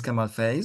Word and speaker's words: Kamal Faiz: you spell my name hello my name is Kamal FaZe it's k a m l f a i